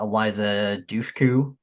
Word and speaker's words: Eliza Dushku: wrong turn one um obviously we got uh Eliza Dushku I don't know if that's how you say